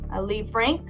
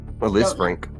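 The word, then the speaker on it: Lisfranc: Lee Frank sprain? Liz Frank. Liz Frank. I didn't know if the S was pronounced or not.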